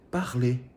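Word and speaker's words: parlé: foi confeccionado o nosso falado em francês é para ler também a mesma pronúncia só que a escrita diferente tenho é um p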